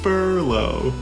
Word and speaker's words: Furlow: changing the second letter it's Furlow like a fur coat fur there it is fur